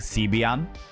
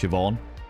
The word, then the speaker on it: Siobhan: So, so for something like Siobhan, people being like Sian, Cobbian is a pronounc here. Seobian and they're like Siobhan. It's like no, it says Cobbian. It's like it's pronounced Siobhan or Nea.